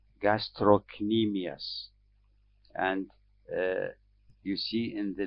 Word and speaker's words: gastrocnemius: and we see a muscle that is called gastrocnemius and you see in the large letters the way it is pronounced gastro some people pronounce it as gastronemias but this is what is documented in the